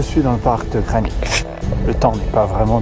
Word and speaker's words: Greenwich: On a envie de dire Greenwich. Apparemment, ça se prononce Greenwich.